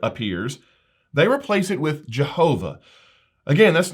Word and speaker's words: Jehovah: in Biblical Hebrew and the consonant pronounced as a v in Jehovah would have originally been pronounced as a w in classical Hebrew so there's a lot